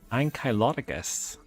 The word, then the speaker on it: Ankylodocus: This is how you pronounce it. Hit control. Ankylodocus.